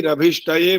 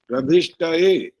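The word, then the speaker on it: अभिष्टये: मात्रा नहीं है तो मात्रा का उच्चारण नहीं होना चाहिए। जैसे शन्नो देवी रभिष्टये बोलते हैं सब लोग, रभिष्टये ए की आवाज आती है, ए तो शब्द ही नहीं है पहली बात, और य में ए की मात्रा वो भी नहीं है, रभिष्ट य। लेकिन जब संधि विच्छेद करते हैं तब बनता है अभिष्ट ये, अभिष्ट ए नहीं बनता।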